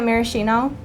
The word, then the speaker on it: maraschino: is maraschino cherries is how you say it maraschino so those are the three ingredients my mom's